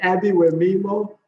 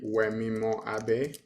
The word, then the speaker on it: Wemimo Abe: So it's actually Wemimo Abe. Wemimo Abby. Okay. Yeah. So it's like think about Abe, like Abe, like, and then it's Wemimo.